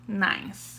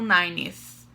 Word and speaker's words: ninth: Então, você vai pronunciar ninth, ok? Ninth, não nineth, ninth, ok? 10th, 11th, então todos assim, é só colocar aqui a língua no meio dos dentes no final que vai ter o som do número ordinal, tá?